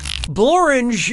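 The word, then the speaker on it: Blorenge: this is an answer bloringe is a real place and it really rhymes with orange but if you visit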